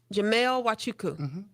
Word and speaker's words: Jamelle Wachuku: name is I gotta I wrote it down phonetically it's Jamel huachuku yes did I get it right yes Jamel wachuku so my full name is